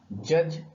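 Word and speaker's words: judge: जज, यहां पर अगेन डी साइलेंट।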